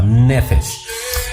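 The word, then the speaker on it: נפש: Es decir, que empezó a tener ese soplo, es decir, ese nefesh o nefesh, porque estoy acentuando yo mal. Debe de llevar la acentuación en la primera sílaba, nefesh.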